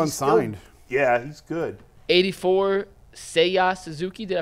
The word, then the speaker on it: Seiya: 84, Seiya Suzuki. Did I pronounce it right? Yeah, Seiya. Say you, say me.